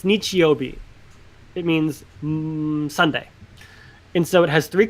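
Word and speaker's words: 日曜日: So it's pronounced nichi and it's pronounced bi.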